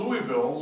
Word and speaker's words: Louisville: She also went to Louisville Seminary. Not Louisville, Louisville. She said it right.